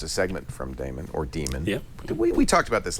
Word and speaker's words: Daemon: demon you like yeah I say demon and then of course a lot of Unix people say Damon and you know it's probably worth saying Damon because it's spelled D Dae and and that way people when they see it in the bookstore say oh Damon I I'll tell you